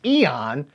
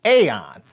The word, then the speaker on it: Aeon: involved in the series to pronounce Eon as Aon so if you want to pronounce it that way technically it is correct it's like Magneto and magnetto they're both right the longer form episodes